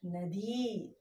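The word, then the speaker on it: नदी: So we pronounce it as nadi.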